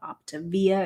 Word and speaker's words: Optavia: and they get real upset if you don't pronounce that correctly octavia octavia is how you're supposed to pronounce it apparently